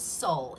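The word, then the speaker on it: Seoul: And this is Soul. It's spelled S-E-O-U-L.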